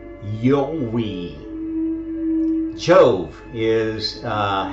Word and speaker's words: IOVI: get there okay so the proper ancient Latin pronunciation of I OVI is not Jo it is not Yi it is actually yoi yoi which sounds extremely similar to Yahweh and